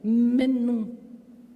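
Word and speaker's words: מן: Maná se escreve, né, no hebraico mn pronuncia menu. Hum. MN. Menu.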